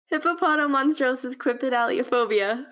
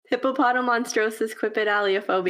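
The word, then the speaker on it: Hippopotomonstrosesquippedaliophobia: How do you pronounce it? Hippopotomonstrosis quipedaliophobia.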